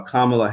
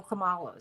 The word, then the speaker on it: Kamala: to do everything we can to get uh kamla Harris over the hump if anyone one can't pronounce her name that that they probably aren't supporting her anyway you know you know but many black people know Kamala because no no no I keep no no